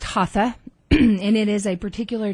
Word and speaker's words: Hatha: mental processing Etc um so I think it's pronounced haa and it is a